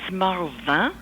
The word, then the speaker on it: Marvingt: you pronounce that well it's in French s marva you kind of swallow the last three consonants but or you can